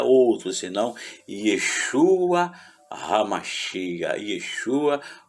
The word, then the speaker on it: Yeshua: é a salvação, que no caso a pronúncia é Yeshua, a salvação, que é quem?